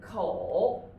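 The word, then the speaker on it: 口: Yeah, this is pronounced as kou. Yeah, it means the mouth. It's very, vivid, right? It's like our mouth, kou.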